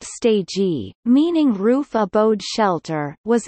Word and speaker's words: stegi: The so-called Oikostegi, Greek Oiko, pronounced eco, meaning building ecological, and stegi, pronounced stegi, meaning roof abode shelter, was inaugurated in September 2008.